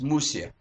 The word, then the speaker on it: Mushka: at the same time mushka represents a name which is of the lower language not Hebrew not even idish because it is always pronounced musia very very why because